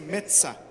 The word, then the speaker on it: Mezza: Lá na Itália, com 2 Es, pronuncia mezza, igual pizza, e aqui alguns ficaram